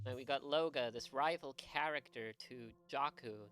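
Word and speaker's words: Looga: It's just Loga, like, you know, L-O-O-G-A.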